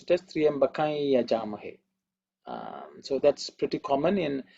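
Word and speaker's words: त्र्यम्बकं यजामहे: So usually they would pronounce it as Triyambakai Yajamahe. That is the way it is pronounced because the Anuswara changes. So that is the technical detail. But there are people who pronounce it as Triyambakam Yajamahe also. They feel that is also not wrong.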